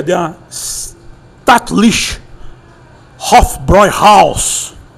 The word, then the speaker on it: Hofbräu: Pessoal fala Hofbra erroneamente porque tem um trema no A e a pronúncia é Hofbroy.